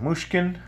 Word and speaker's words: Mushkin: protect this decorate alright so here you go muskan that's how you say it helix and it's